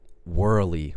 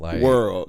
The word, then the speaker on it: Worrell: Did I pronounce that correctly? Yeah, yes. Worrell? Yes. Okay, cool. It gets butchered a lot. Does he? It does. What's some of the worst things you heard? Worley, which there's no Y in it, or I don't. Worrell.